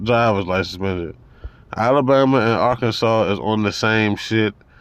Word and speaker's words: Arkansas: thing let's look up Arkansas AR Kansas Arkansas how the they call that Arkansas and it's spelled aranes is pot legal in